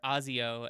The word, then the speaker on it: ASIO: that to uh work with uh ASIO or Azio as I hear it's pronounced now.